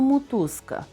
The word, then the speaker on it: мотузка: о наближене до у пишемо мотузка а вимовляємо мутузка о наближене до у пишемо село а вимовляємо